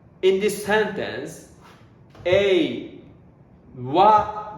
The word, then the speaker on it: は: So if this ha used as a particle, we pronounce wa.